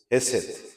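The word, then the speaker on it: חסד: les muestra al pueblo algo que en hebreo se pronuncia Hesed, que significa en español gracia.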